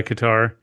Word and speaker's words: Qatar: I still stand by Qar. Um maybe it sounds closer to cutter in Arabic.